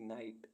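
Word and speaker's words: knight: मीस जानना के एन आई जी एच टी नाइट नाइट मीस योद्धा के एन एवी नेव नेव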